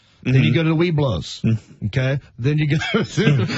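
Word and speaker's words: Webelos: Then you go to the Weeblos, okay? Then you go to Boy Scouts. That's the thing. Look up Weeblos. Okay. That's the thing. Okay. Yeah. It's spelled differently than how it's pronounced.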